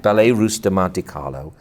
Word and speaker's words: Ballet Russe de Monte Carlo: They're putting together this Ballet Russe de Monte Carlo. Is that my pronouncing it correctly? Yeah, that's right. Ballet Russe de Monte Carlo.